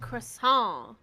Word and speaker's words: croissant: Bouillon and croissant. Croissant, yeah. You do not pronounce the T, because if you do, oh.